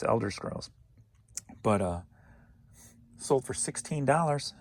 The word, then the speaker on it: Elder Scrolls: in a posh video because i think i mispronounced that and called it elden scrolls when it's elder scrolls but uh sold for